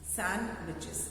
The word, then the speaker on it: sandwiches: I eight सैंडविच, I eight सैंडविच, I like सैंडविचेस, sandwiches, D is silent, okay?